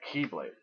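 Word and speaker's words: χ-blade: by Sleep is great keyblade except it's like not key but it's like X and it's pronounced key so that's the keyblade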